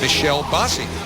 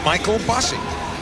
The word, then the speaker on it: Michael Bossy: His name is Michael Bossy. Well, most people from Quebec whose name are spelt like that is Michel. That's the way the French like to pronounce most Michaels.